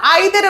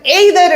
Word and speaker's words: either: ஸோ ஒரு சிலர் ஐதர் அப்படின்னு ப்ரொனவுன்ஸ் பண்ணுவாங்க, ஒரு சிலர் நெய்தர் அப்படின்னு ஒரு சிலர் எய்தர் அப்படின்னு ப்ரொனவுன்ஸ் பண்ணுவாங்க. போத் ஆர் ரைட், ரெண்டுமே கரெக்டு தான், தப்பு கிடையாது.